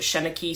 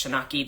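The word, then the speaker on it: seanchaí: and there was a uh um I he pronounced it sheni sometimes an Ireland it's shinaki that they pronounce it but basically that is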